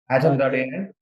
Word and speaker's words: Atom.ai: So we understand that you use, if I pronounce it right, is it Atom.ai? Atom.ai.